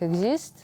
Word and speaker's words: Exist: И в сочетании это слово читается как Exist.